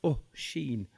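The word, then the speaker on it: Oisín: the athlete's foot well my name's oshin pronounced oh sheen i'm from the land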